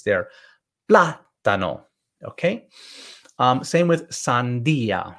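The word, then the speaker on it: sandía: there okay same with sandia i want you to um stress the i sandia okay then we have the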